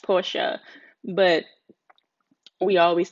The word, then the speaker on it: Porsche: I did buy a Porsche truck, and it's actually pronounced Porsche, but we always say Porsche for some reason, but it's actually Porsche.